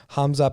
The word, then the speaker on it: Khamzat: Yeah, it depends where you are. I believe in Russia you say Hamza, and other places you'll pronounce the K.